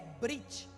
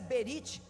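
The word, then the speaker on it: ברית: A palavra aliança, no hebraico é brit. Alguém pronuncia berit, mas eu não gosto dessa pronúncia, dado que estudamos um pouquinho do hebraico, então eu prefiro a pronúncia brit.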